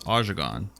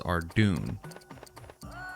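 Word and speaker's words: Ardougne: I knew a lot of people that pronounce one of the towns in the membership when you become a member as Ajagon.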